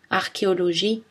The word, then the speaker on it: archéologie: Mais attention, dans certains mots, CH se prononce K. Archaïque, archéologie, bac, cholestérol.